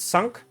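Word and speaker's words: Cinq: Yes, it's pronounced sunk, by the way.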